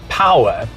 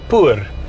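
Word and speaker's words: POER: known as the p-o-e-r which gwm says is pronounced power but it's a bit of a problem in south africa because p-o-e-r we would pronounce it poor and that is not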